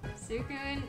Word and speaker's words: Suicune: Suicune, like Sue from suitcase, Suicune, suitcase.